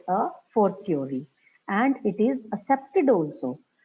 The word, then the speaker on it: a fortiori: Fortiori, its pronunciation is fortiori.